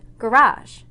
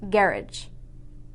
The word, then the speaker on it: garage: both countries use english some of the word stress varies making those words sound completely different for example this word is pronounced garage in america but in england it's pronounced garage in module 1 we